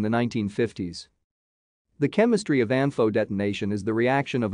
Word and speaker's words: ANFO: used bulk industrial explosive its name is commonly pronounced as ampho it consists of 94 porous prilled ammonium nitrate